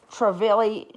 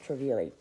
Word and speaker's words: Trevi: love you guys this is a Louis Vuitton traveli GM and it's I've been pronouncing it incorrectly in the other video that